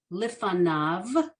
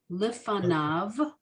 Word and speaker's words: lifanav: The yud is silent. It's there to make the grammar correct, make it plural, but it doesn't sound like anything. So I'm going to say it again, lifanav. Good.